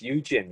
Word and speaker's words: Eugene: welcome and then please help me with the pronunciation of your name is it jen yeah my name is eugene yeah exactly hello my name is eugene i